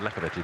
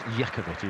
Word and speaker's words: Iacovetti: It's Iacovetti, I think I said Lakovici. It's because the way it's spelt, or the way it looks like it's spelt, it's not. It's Iacovetti.